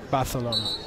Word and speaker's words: Barcelona: Barcelona. Thank you for the Catalan pronunciation.